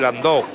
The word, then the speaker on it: Landau: Ese es un Landó, que se escribe Landau, que es una frase, exactamente, la ciudad alemana. Es el afrancesamiento de la palabra alemana Landau.